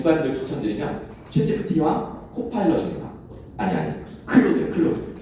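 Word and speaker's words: Claude: 아니 클로드. 이거는 읽을 때 우리의 프랑스 클로드 모네처럼 클로드라고 읽으시면 돼요.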